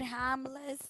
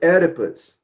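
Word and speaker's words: Oedipus: Jones According to Jones how did hamus no I told you already that it's edus ER write down the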